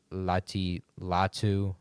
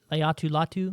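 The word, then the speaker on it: Laiatu Latu: You have uh Lati Latu. I pronounced that wrong. I know. Leatu Latu Leatu Latu I believe that's right, but I also could mess it up.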